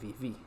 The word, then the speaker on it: viví: Eh, Cantar sería cantai. Comer sería comí. recordar que la S no se pronuncia en español de Chile y vivir se pronuncia viví.